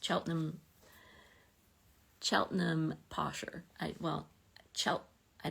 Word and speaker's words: Cheltenham: some of your comments is Cheltenham like Gloucester yeah I think it is it's it's sort of scrunched together you don't necessarily pronounce every syllable right um anyway we're